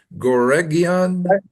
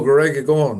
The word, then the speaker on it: Goregaon: I was reading there that it was at the Bombay Exhibition Center, uh, Gorgaon, Mumbai. Am I pronouncing that right, Darby? Goregion? Correctagon. Correctagon. Oh, Goregaon.